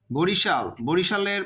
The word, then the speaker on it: Barishal: বরিশালের পূর্ব বানানটা ছিল এরকম, BARISAL। বারিশালের মতো উচ্চারণ হয়, আমরা বরিশালই বলি, বাট উচ্চারণটা কিন্তু বারিশালের মতো হয়। এসতে কিন্তু দন্তস্ব হয় আমরা জানি, বাট বর্তমান বানানটা দেখো BARISHAL, তাহলে উচ্চারণটা কিন্তু এইটা হবে বা বানানটা হবে এইটা। এই যে এখানে দেখছো এস আছে না, এখানে এস এর পরে একটা এইচ যুক্ত করা হয়েছে।